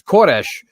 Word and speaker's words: Koresh: excuse me, in the Persian, I believe is pronounced Kurus. but it's Koresh in the Hebrew.